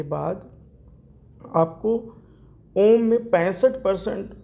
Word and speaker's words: ओम: है तो कुल मिलाकर ओम को जब बोलेंगे तो ओ की मात्रा ज्यादा होती है और मां की मात्रा 35 30 35 पर तक रहती है तो ओवरऑल देखें तो ओम जब बोलेंगे ओम का उच्चारण जो हो वह इसी रेशियो में होना चाहिए और ओम में कुछ